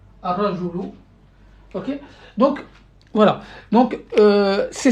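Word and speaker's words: الرجل: Donc, l'aura, il est solaire, donc il va prendre une shadda. Ar-rajulu. Ar-rajulu. Donc, A, Ra, Joulou. Ar-rajulu.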